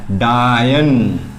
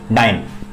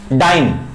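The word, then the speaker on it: dyne: क्या लिख सकते हैं, डायन, sorry best pronunciation is डाइन, डाइन नॉट डायन, ठीक है, तो मजाक में बोल रहा हूं।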